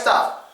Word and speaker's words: stuff: Now staff, you do have to stress the A sound. Not only do you stress the A sound, you open your mouth. Staff. Out of everybody in my staff, I'm the hardest worker. And everybody in the staff has stuff to do. Everyone in the staff has stuff to do. That one is simple. Open your mouth, stress the A. On the U, you relax, don't stress.